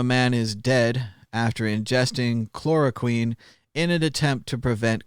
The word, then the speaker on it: chloroquine: Clearly, fish tank chlorozine is not the same as medical chlorozine, so on and so forth. I'm sure I'm saying it wrong. Chloroquine.